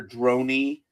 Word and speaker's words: Droney: So the panel upheld the January 2025 decision by arbitrator Christopher Droney. When you have your name rhyming with drone on and money, there are issues.